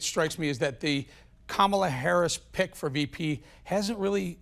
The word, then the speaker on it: Kamala Harris: And Sebastian, by the way, you pronounce her name Kamala Harris.